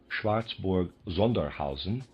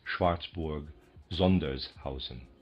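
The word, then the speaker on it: Schwarzburg-Sondershausen: might easily have replied Schwartzborg Zunderhousen or Zandersha or Rice Schlitz or something similar. I believe that is Schwartzborg Zundershausen.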